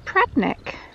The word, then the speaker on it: Predannack: Locals pronounce the word as Predannack, which would make a lot more sense to me as a Cornish person. We do tend to lose that middle syllable.